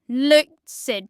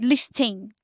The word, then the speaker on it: listen: See listing like we install the T but is supposed to be silent but you stole it into that word. So it is not listing.